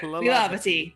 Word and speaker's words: Lilavati: Lilavati. Lilavati. Do. Lilavati, okay. Second, There you go. You'll get it. That's the best way to remember it. stress that second syllable there.